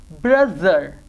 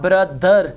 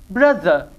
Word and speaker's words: brother: There, then, them, that, the, brother, not brother, that's wrong, brother, either, other, smooth, breathe, bathe.